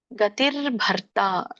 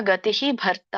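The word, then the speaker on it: ಗತಿರ್ಭರ್ತಾ: ಪ್ರಭವ ಪ್ರಳಯಸ್ಥಾನಂ ನಿಧಾನಂ ಬೀಜಮವ್ಯಯಂ ಇದರೊಂದು ಉಚ್ಚಾರಣೆ ಗತಿರ್ಭರ್ತ ನೋಡಿ ಭ ಇದೆ ಇಲ್ಲಿ ಮುಂದೆ ಅರಕಾವಳಿ ಇದೆ ಇಲ್ಲಿ ಅರಕಾವಳಿ ಇದ್ದಾಗ ಮೊದಲು ಭಕ್ಕಿಂತ ಮುಂಚೆ ರ ಹೇಳಬೇಕು ಗತಿರ್ಭರ್ ಮತ್ತೆ ಮತ್ತೆ ತ ಆದಮೇಲೆ ಮತ್ತೆ ಇಲ್ಲಿದೆ ಸೋ ಇದು ತಕ್ಕಂತ ಮುಂಚೆ ರ ಹೇಳಬೇಕು ಗತಿರ್ಭರ್ತ ಬಿಡಿಸಿದಾಗ ಗತಿಹಿ ಭರ್ತ ಆಗುತ್ತೆ ಗತಿಹಿ ಭರ್ತ ಗತಿರ್ಭರ್ತ ನೀವು ಕೂಡಿ ಹೇಳಬಹುದು ಗತಿರ್ಭರ್ಥ ಪ್ರಭುಹು ಸೋ ಇಲ್ಲಿ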